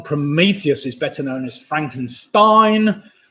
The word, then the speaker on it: Frankenstein: is better known as Frankenstein Stein of course rhymes with nine so Frankenstein with a